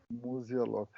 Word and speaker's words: Musialowski: Muse a love. Muzialov.